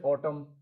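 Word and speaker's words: autumn: तो एन भी क्या है, कभी कभी साइलेंट हो जाता है, जैसे ऑटम है ना, यहाँ क्या है, एन साइलेंट है।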